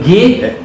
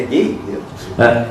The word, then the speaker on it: Gay: A pronúncia certa me parece ser Gay. É gay? Não, a portuguesada fica gay, né? Mas a pronúncia em francês, se não estou enganado, é Gay, Gay, né?